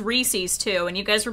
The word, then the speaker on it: Reese's: who made it say Reese's no it's Reese's I swear this was a thing isn't it meant to rhyme with pieces yeah no that's well